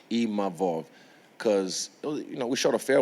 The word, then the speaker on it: Imavov: And I'm grateful to even Nassourdine Imavov, sorry, I learned how to say his name properly, Imavov, because, we shot a fair one, he beat me.